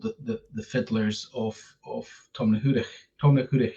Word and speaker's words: Tomnahurich: Tomnahurich Hill is the proper pronunciation for the hill.